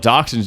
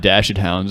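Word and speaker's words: dachshund: __ ] cute apparently they're called doxin now and not dashed hounds this is news to me they were never called dashed hounds they're spelled dashed hounds so everyone else can say it correctly Germans man what do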